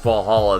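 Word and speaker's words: VA-11 HALL-A: eh l dash a i think so it's pronounced fall hollow though it's a game by soo kaban games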